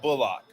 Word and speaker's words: Bullock: He's made it known that he wants to be called Bullock.